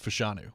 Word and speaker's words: Fashanu: You have perfected your pronunciation of Fashanu.